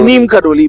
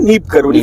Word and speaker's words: नीब करोरी: बुलाना शुरू कर दिया उसी नीम करोरी को बहुत लोगम कर नीम करोली बोलते हैं और इस तरीके की चीज है तो उसका जो वास्तविक उच्चारण है नीप करोरी फरुखाबाद यूपी उत्तर प्रदेश